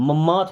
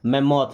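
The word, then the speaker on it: mammoth: मैमोथ, मैमोथ का मतलब होता है विशाल, मैमोथ मीन्स क्या होता है, विशाल, या कई बार सोचते हैं कि मम्मथ बोलते हैं बट ये मैमोथ है ना।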